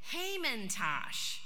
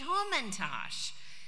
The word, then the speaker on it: Hamantash: The word begins with the name of the villain in the Purim tale, Haman. Yet we don't pronounce the food Hamantash. No, we eat Hamantash. Since when does an A sound like an O?